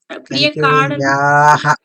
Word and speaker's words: कैकेय्याः: So actually in Sanskrita, all of these two are to be pronounced long vowels. These are Kaikeyaha. Priyakaranat. Yaha. Again. Yaha. It's longer. Kaikkeyaha.